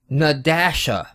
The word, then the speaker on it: Nadasha: Nadasha. The guy on the Kickstarter explains that you pronounce the dash. It is na-dash-a.